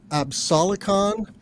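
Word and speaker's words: Absolicon: a Tracker technology from Sweden a company called absalocon which is a little awkward I'm going to spell that it's a b s o l i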